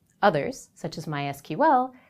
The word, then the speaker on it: MySQL: explicitly in their documentation that the language is pronounced sequel others such as MySQL say explicitly that their name is my SQL